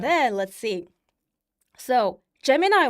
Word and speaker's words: Gemini: Then like Gemini, how do you pronounce it? Gemini.